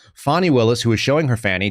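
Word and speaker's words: Fani Willis: Federal areas we know that is that uh Fanny Willis or fonnie Willis as I've been told it's pronounced fonnie Willis who is showing her Fanny down in Georgia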